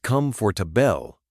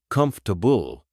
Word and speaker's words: comfortable: Like, for the longest time, I said come for to bell instead of comfortable.